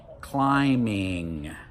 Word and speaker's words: climbing: suffix to that word, like climbing, we don't pronounce the B.